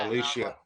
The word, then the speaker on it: Alicia: Alicia. It's actually Alicia. She said it on whatever Instagram. It is. People say it wrong all the time. It's Alicia. Okay, first of all, I'm not going to take pronunciation advice from you.